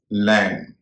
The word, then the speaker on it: lamb: LAMB, इसमें बी का उच्चारण नहीं होता। यह मैंने बी वाली क्लास में बताया था कि जब शब्द के आखिर में एम और बी हो तो बी का उच्चारण नहीं होता, इसलिए इसका उच्चारण होगा लैम।